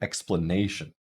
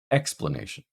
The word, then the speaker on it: explanation: So if we pronounce the word explanation, that ne is getting primary stress. It's the longest and most prominent syllable in the word.